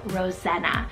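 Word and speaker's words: Roxena: rare name that was used is the name Rosanna spell r o s x e n a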